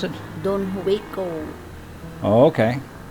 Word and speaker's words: Juico: Don Juico. Oh, okay. That's the Philippine pronunciation. For the foreigner, Don Juico.